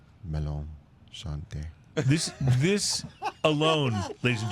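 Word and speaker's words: Melon Charentais: How do you pronounce it again? Melon Shante.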